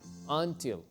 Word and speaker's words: until: I Fall asleep y recuerden que until no se pronuncia un la u tiene un sonido parecido a la a until so I antes